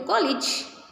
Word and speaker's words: college: All the words which end with the suffix of AGE, are pronounced as IJ. So, any age people can go to college. Any age people may travel with a carriage. So there is no age here, only ij. Carriage, bandage, luggage, village, college. Have you observed? All these words end with age and they are all pronounced with ij sound.